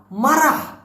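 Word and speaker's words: marah: খুনাপা খুনাপা মারাহ কেনাপা মারাহ লাস্টে একটা হ আছে আছে ম আকার র আকার হ মারাহ ওই হ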